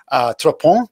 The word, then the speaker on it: Trois-Ponts: this location in Caux, which is near to Trois-Ponts?